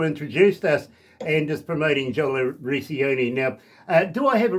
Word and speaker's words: Jola Recchioni: But I don't mind if I'm called Jola Recchioni, that's fine. But it's Jola Recchioni.